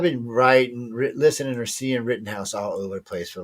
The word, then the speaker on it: Rittenhouse: how you say his name um Written House Written House there you go thank you and you know as many times I heard you think I remember that so now I've been writing listening or seeing written house all over the place for the last two